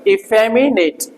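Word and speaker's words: effeminate: है आपका इफेम ट पहले यह ई ज्यादा बोला जाएगा इसपे स्ट्रेस लगा हुआ है फ म नेट ये ज्यादा सही भी नहीं है हिंदी वाला ने ऐसे करके जो है ना इसम य लगा रता है इंटरनेशनल फोनेटिक्स में ने ऐसे कर पढ़ जा इ फेम नेट फेमिन फेमिनेले इ फेमिन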